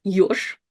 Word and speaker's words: ёж: It's yosh. And once again, zh is at the end, so it's kind of more like sh.